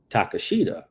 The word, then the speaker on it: Takeshita: Phonetically, if you look at his name, it's like you would say Takashita. Yeah. Mm-hmm. Like that. That's how I was like, phonetically, it would be Takashita. But when you say take a shitter, Takeshita.